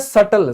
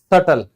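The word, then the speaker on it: subtle: फिर ये होता है सटल। सटल का मतलब होता है सूक्ष्म, बहुत छोटा, सटल।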